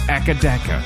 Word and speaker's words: AC/DC: They call it Akadaka. Yeah. That is not less syllables than AC/DC.